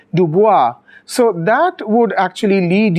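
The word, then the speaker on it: DuBois: Duo um as you can see the surname Duo is actually um originally a French surname so the correct way to pronounce it would be to say Dua so that would actually lead you to uh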